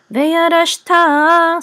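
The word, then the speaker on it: וירשת: So veyarashta. So accent is on ta.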